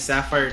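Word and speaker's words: Safyre: it's a weird name, it's like Sapphire, but it's spelled S-A-F-Y-R-E. Her name is Sapphire Terry.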